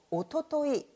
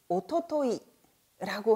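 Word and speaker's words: 一昨日: 자, 일단 어제보다 하루 더 전날은 그제라는 단어로 오토토이, 오토토이라고 하고요.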